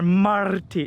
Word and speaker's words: Marty: I gotta say the R, Marty. Is it am I rolling the R's? You're rolling the R's, and that's pretty perfect pronunciation, Chris. Hey, not too bad.